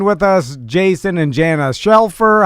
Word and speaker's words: Shelfer: us, Jason and Jana Shelfer. How you guys doing? I'm doing excellent. I'm so proud of you for pronouncing it correctly. You normally get it wrong. What do you normally do? Scheffler.